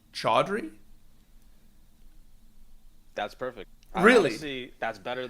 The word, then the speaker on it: Chowdhury: people ask so yeah it's like clam chowder it's like chowder you know okay but